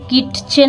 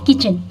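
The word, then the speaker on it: kitchen: जाता है ठीक है इसलिए यहां पर हम किट चन नहीं पढ़ते हैं इसको बोला जाता है किचन यहां पर टी साइलेंट वर्ड है ये टी साइलेंट है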